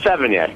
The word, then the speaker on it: Sevigny: Well, no, I have never dated a Savini. And is that how you say it, or Savini? Damned if I know. Okay. Well, you've led a fantastic... If I know. I mean, Sevigny is always... It's Sevigny.